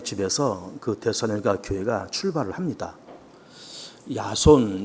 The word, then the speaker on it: 야손: 그대 교회가 출발을 합니다 야손 이제 그렇게 기록되 있지만 이것이 이제 영어식 발음으로는 제이슨이 되겠습니다 어 그 집에서 이제